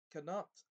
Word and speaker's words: Knut: They clearly pronounce what ought to be a silent K at the beginning of each of those words.